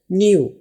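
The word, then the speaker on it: knew: past वाली form है न्यू एंड के एन ई डयू इसमें के साइलेंट है के की कोई वाज नहीं है तो न्यू जैसे एन ड वैल्यू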